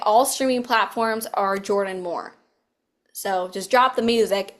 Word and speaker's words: Mohr: So, on all of social media, every single one of them, I am Jordan Moore Music. My last name is spelled M O HR.